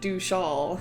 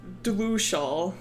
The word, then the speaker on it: Dlushal: to Wanderling lore, but I've been saying Dushal instead of Dlushal. It's just an anglicization of how that word is pronounced.